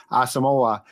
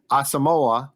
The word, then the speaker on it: Asamoah: like it being pronounced asamoah we will find out but for right now fans asamoa talk about full service asamoa is how the Vikings think it's pronounced okay so if there